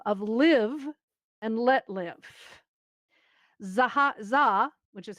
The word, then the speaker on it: Zaha: Zaha, which is how it's pronounced, ZHA, wants to recreate it in VR.